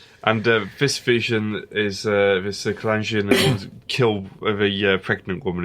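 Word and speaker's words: Kalarjian: Kalangian, that's how you pronounce it.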